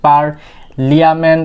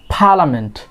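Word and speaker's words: parliament: একটা আমরা বলি পার্লিয়ামেন্ট, তো এটার correct pronunciation is পার্লামেন্ট, পার্লামেন্ট। এখানে কি আরগুলা, ব্রিটিশরা কিন্তু আরগুলাকে সাইলেন্ট করে ফেলে, তাই কিন্তু শুনতে পাচ্ছ যে আমার অনেক ক্ষেত্রেই আর সাইলেন্ট হয়ে যাচ্ছে, পার্লামেন্ট।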